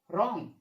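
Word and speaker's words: wrong: पढ़ेंगे, क्या पढ़ेंगे, right, रॉन्ग, wrist, Wraith, wrinkle, Regal. देखा किस तरीके से उच्चारण होगा, यानी जो ये डब्लू है ये क्या होगा हमारा, साइलेंट लेटर होगा।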